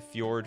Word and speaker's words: fjord: I need Nikachu to pronounce the word fjord for us. It's fjord, right?